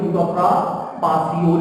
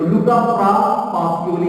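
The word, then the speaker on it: Luca Pacioli: सबसे पहले बात की थी लुका पासियोली ने। स्पेलिंग है PASI, बात तो CI भी लिखते हैं के नाम है, लिखा जा सकता है, कोई तो नहीं। तो लुका पासियोली इज the father of accounting.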